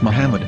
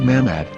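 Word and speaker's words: מחמד: yehuda's hebrew english dictionary it is correctly pronounced as muhammad not mahmod so how we're going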